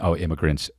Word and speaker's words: immigrants: Obviously got crossed up between, immigrants, short I. Look at this guy trying to do the English lesson. And migrants, long I. Started mispronouncing migrants with short I.